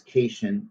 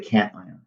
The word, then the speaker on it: cation: that an anion and no i don't pronounce this cajun even though it's tempting to pronounce it that way i call it a cation all right so there